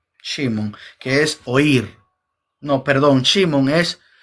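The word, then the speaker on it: שמעון: Y es una palabra hebrea que se pronuncia Shimon, que es oír.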